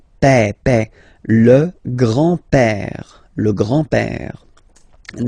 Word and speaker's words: père: Remember, accent grave like that. It's this open père.